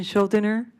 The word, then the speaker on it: Schuldener: So at this time, I would like to make a motion to remove Ben Schuldener from the list of candidates.